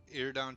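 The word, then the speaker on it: Iridion: Now I know that we have Mega Man 7, which most of us have played, and Iridon. Is that the way you pronounce that? Iridon 2, yep.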